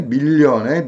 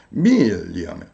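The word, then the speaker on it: million: 아니라이 이렇게 진지하게 하고 그 다음에 밀리언의 미를 이해하고 똑같이 발음하는 겁니다이 올라왔죠 이렇게 몇 번 집중해서 이성이 먹기도로 이렇게 머리 같은 걸 흔들어 주면서 감정만 남도록 한 다음에 빠르게 밀려 밀리언 하면 미 하고 울러 옵니다 밀리언 따라할 수 있게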